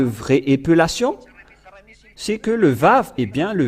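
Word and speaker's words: ו: Et nous avons vu la lettre araméen que le lettre Vav se prononce bien Vav ou V.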